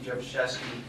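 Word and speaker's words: Drzewoszewski: My name is Jevashevsky. That's actually how you say it, but it's spelled D-R-Z-E-W-O-S-Z-E-W-S-K-I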